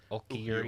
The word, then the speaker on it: Ulquiorra: How do you pronounce his Ulquiorra. name? Ulquiorra.